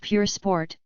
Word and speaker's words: Pur Sport: sport against the new chiron per sport pronounced pure sport well folks that's a